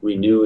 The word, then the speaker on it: Renue: Renew is in like renew your venue.